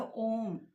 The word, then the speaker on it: ओम: ओम। ओ उ म, जहां पर जीवा का यूज नहीं किया जाता, कोई भी इसका प्रोनाउंसिएशन कर सकता।